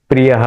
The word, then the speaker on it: प्रियः: यहाँ पे भी मैं प्रियः ऐसा उच्चारण करना है। मैं ओठ को बंद करना है। मैं थोड़ा प का उच्चारण उसमें आना चाहिए, क्योंकि यहाँ प है